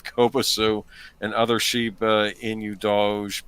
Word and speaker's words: Doge: and other Shiba Inu Doge pronunciations like pizza dough, but with a J at the end.